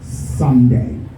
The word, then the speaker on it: Sunday: Now from the word Sunday, the part of that word that sounds loudest is it's occurred on the first part. Part of words in English we call it syllable. Okay, so sun has the stress, and then the distress syllable is day.